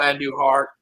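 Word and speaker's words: Andújar: there's always videos in this offseason of miguel and new heart that's how you pronounce his name and he's just and he's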